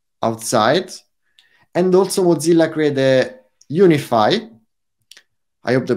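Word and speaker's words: UniFFI: And also Mozilla created Unify. I hope the pronunciation is correct. Unify with double F. It's like from Unify. That's the reason. Like it's like unifying Rust for with the other platform.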